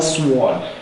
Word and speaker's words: sword: the word is more sword is sold the w is silent so what we have